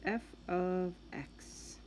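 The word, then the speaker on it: f(x): is f it's pronounced f of X right it's not it's not multiplication it's the word of and that just means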